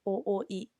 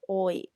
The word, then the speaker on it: 多い: It's a little bit difficult to pronounce o, but there's double o, so try to pronounce ooi instead of oi. Like you shouldn't skip this o when you pronounce.